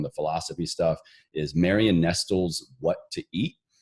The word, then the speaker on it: Nestle: Nestle like the candy company Nestle but it's pronounced Nestle yeah Marion Estill okay next one what is